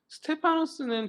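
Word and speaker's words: Στέφανος: 발음이나 이런 게 좀 저 스스로 뭔가 자신감이 좀 떨어져가지고. 근데 어쨌든 간에 스테파노스는 굉장히 맞는 것 같은데?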